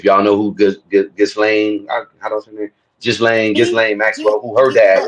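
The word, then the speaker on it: Ghislaine: If y'all know who Gain Just Lane Gain Maxwell who her dad was. S the S is silent.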